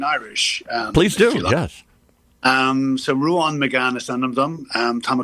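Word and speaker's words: Ruán: So because Ruan on the A, there's a fada, an accent, and that accent is crucial to the language and how we pronounce things. So okay.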